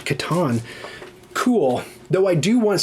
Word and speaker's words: Catan: That's why I say Catan and not Catan.